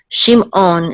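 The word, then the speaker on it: שמעון: The ayin is not just silent; it's actually guttural, and it's like a Klingon sound from Star Trek. So it's on, okay? Shimon, okay? So that's the ayin. It's ayin. It's a little bit guttural.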